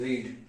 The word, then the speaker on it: read: रीड मतलब क्या होता है पढ़ना, और इसकी सेकंड फॉर्म भी सेम होगी पर हम उसको पढ़ेंगे रेड, और स्पेलिंग सेम है, हम इसको पढ़ेंगे रेड रेड रेड रेड।